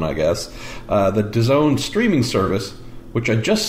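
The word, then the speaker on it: DAZN: all caps Daz n which looks like daisen but it's pronounced as own I guess the disown streaming service which had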